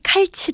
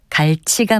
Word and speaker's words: 갈치: 것도 있습니다 대표적인 것으로 흔히 칼치 라고 부르는 생선은 가 위치가 맞습니다 생성 모양이 칼 처럼 생겨서 그렇게 부르곤 하는지 아니면 둘째 음절에 치 영향을 받아서 첫째 음절을 거산 소리로 칼로 발음하는 것인지는 확실치 않지만 칼치 가 아니라 갈치가 맞습니다 참고로 갈치가 갈치 꼬리